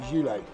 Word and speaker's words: Zhilei: So you pronounce it Zhilei.